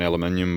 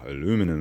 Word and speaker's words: aluminium: The bonnet, I'm spewing about, my one's got an aluminium bonnet, this one, or aluminum as Americans say.